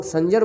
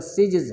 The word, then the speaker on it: سجز: میں یہ قصبہ تھا جس کو لوگ سنجر بولتے ہیں، لیکن اصل میں درست تلفظ اس کا سجز ہے، تو آپ کا جو لقب اس میں سجزی کہنا زیادہ صحیح ہے، لیکن اب لوگوں میں سنجری مشہور ہو گیا ہوا ہے اس قصبے